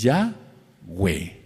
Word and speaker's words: Yahweh: Se escribe con una he, perdón, que sea repetitivo, una yod y una he, por lo tanto, se pronuncia ya. Y como vimos en los estudios eh de las diapositivas anteriores, entonces es Yahwe, Yahwe, Yahwe, Yahwe, Yahwe es.